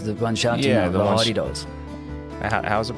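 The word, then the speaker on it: hadeda: Yeah, the hardy-daws. How's it pronounced again?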